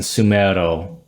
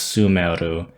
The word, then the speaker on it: Sumeru: So this would be pronounced more like Sineru, Meru, and Sumeru. The first one had more of an I sound, Sineru, and then the last one is Sumeru.